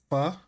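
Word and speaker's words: phở: F. You know, like it's spelled um it's spelled ph, but it's pronounced like f.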